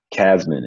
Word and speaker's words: Casmon: Casmon is C-A-S as in Sam, M-O-N. Yes. I would say it's spelled like it sounds, but some people might think it's different.